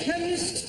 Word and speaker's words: chemist: Chemist does not begin with a K. It sounds like it begins with K, C-H. but that is making it chemist. No, the CH is pronounced K.